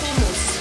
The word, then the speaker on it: hummus: It is hummus. Hummus. Yeah, with a kh. Hummus. But North American cannot do the kh.